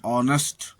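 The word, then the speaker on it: honest: H silent, H के पश्चात ओ होने पर एच साइलेंट होता है, जैसे ऑनर, सम्मान, ऑनेस्ट, ईमानदार।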